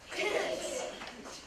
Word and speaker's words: Dickens: I'll remember it because it rhymes with chicken. Dickens.